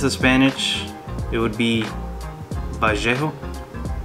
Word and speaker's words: Vallejo: These two are Vallejo, or if this is Spanish, it would be Vallejo, because the double L's you will pronounce as a Y.